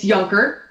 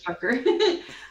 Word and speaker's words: Junker: Junker. Hello, everyone. Hello, it's Junker, just so you guys know. That's a very common way to say my name, but yes, it's Junker.